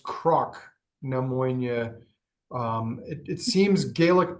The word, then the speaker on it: Cnoc Na Moine: do or knock and knock it is actually pronounced Croc neonia um it it seems Gaelic pronunciation differs based